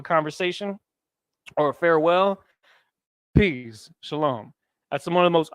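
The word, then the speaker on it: שלום: Shalom. It's going to look like this, right? Shah, and then La, and then Ma. Shalom. How else does it look? It looks like this. Shah, La, and Ma.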